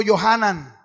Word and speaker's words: Yohanan: Diga conmigo, Yohanan. Ajá. Juan en hebreo es el masculino de Ana. En español no procede, pero Ana en hebreo es Hana y Juan es Yohanan.